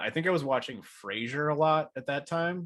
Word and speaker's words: Frasier: can see you watching Fraser okay it's pronounced Frasier not Fraser but his producer Ross